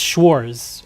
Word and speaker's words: Schwarz: Oh, I'm sorry. There's no T in Schwarz. It's Schwarz. Okay. So, there's no T there.